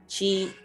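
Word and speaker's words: 七: Yang ketujuh ada chi. Nah, ini Q dibacanya C ya, chi.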